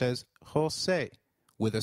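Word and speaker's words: José: e I in 8 the letter J sounds like H in Spanish so try saying Jose it is Jose you will encounter a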